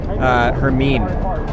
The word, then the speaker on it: Hermine: Hermine came and just, ironically, it kind of rhymes with Helene, and came along and just flooded Hernando Beach, which was my neighborhood at the time.